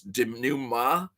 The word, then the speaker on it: denouement: Okay, am I pronouncing denouement wrong? It's denouement. Fucking French people. God damn it, you French! You and your silent consonants.